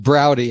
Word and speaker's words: Braude: you today professor broad oh i couldn't hear you that time sorry i inadvertently pressed the mute button the name is pronounced browdy as in howdy oh oh sorry browdy oh believe me it's